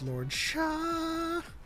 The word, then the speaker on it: Lord Shah: The answer is Lord Shah. And you have to say it like that.